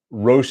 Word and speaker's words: Roche: Oh, Roche is pronounced just like cockroach.